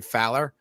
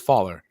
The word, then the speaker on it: Fowler: entire life it's it's fowler but it looks like faller so everyone says faller i don't care they